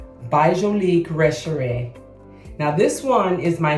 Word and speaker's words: Retrovè: Retrovè.